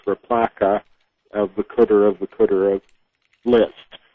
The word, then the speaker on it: RPLACA: Well, there are a whole bunch of ways to do it, but this one is with the operator RPLACA, pronounced replaca, of the cooter of list.